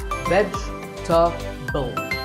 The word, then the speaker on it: vegetable: It's not vegetable. If you say it correctly, there are only 3 syllables. Vegetable. Vegetable.